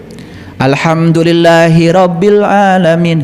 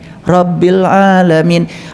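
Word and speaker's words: رَبِّ الْعَالَمِينَ: Bacanya aja kalian keliru. Alhamdulillahiabbil alamin. Hirab. Hirab itu perang. Makanya perang terus. Coba luruskan bacaan alfatihnya. Alhamdulillahi rabbil alamin.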